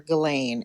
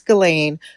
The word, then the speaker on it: Ghislaine: Well, for one, nobody calls her Ghislaine. It is Ghislaine.